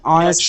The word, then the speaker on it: honest: Can in an honest person, I think is an honest person. Should be is. Yeah. Yeah. The H at the beginning of honest is silent.